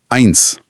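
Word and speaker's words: eins: जब एस किसी शब्द के एंड में आता है तो इंग्लिश के एस जैसा ही साउंड करता है। जैसे जैसे नंबर वन आइंस। यहां आखिर में साफ स की आवाज है।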